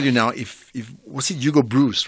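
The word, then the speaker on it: Broos: All I can tell you now, if was it Hugo Bruce, right?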